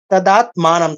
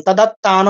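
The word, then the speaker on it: তদাত্মানং: ভারত অভ্যুত্থান ধর্মসান সৃজামহ তদাত মানাম তদাত্তান নয় তদাত মানাম তর সাথে একটা ম তদাত্মান শ্রীজাম মিয়াহম শ্রীজাম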